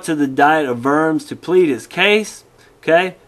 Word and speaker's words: Worms: r o r Ms excuse me it's not the Council of vers it's the diet of vers which means counsel diet